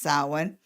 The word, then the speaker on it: Samhain: also the pagan festival of the dead called samhain and it's spelled sam hayne buzz pronounced samhain and this is when the veil is thinnest